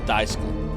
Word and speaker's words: Daisuke: The U is silent. So it's actually Daisk Maknochi? Like Daisk? That Daisk? Am I saying that right? Or Daiske? Daiske or Daisk? Daiske. Okay. Got it.